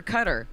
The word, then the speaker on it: Qatar: You're supposed to say it cutter.